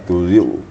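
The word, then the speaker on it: تزغ: Di sini agak berat penyebutannya. Ghain sukun bertemu dengan qaf. Ya, semuanya kedua-duanya bacanya agak berat. Ghain dan qaf. Makanya kita waktu membaca ghain sukun bertemu qaf itu harus hati-hati gitu ya.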